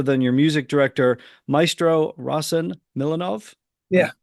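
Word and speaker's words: Rossen Milanov: Those are very, conducted by none other than your music director, Maestro Rasen Milanov. Yeah, that's Pronouncing that.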